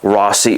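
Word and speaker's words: Rossie: here um is the Odyssey Rossy or Rosie depending on who you talk to how it's pronounced and this putter which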